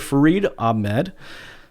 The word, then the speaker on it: Farid Ahmad: Farid Ahmad.